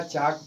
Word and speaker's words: chalk: तो जब एल के तुरंत बाद के आए तो उस स्थिति में एल का उच्चारण नहीं किया जाता है, अर्थात एल साइलेंट हो जाता है। तो ये CHALK को क्या पढ़ा जाएगा, चाक पढ़ा जाएगा।